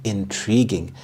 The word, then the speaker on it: intriguing: The stress is on the second syllable, intriguing.